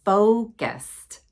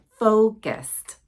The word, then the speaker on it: focused: here practice with me focused it's a o my lips close very tightly not o it's O focused she is confident because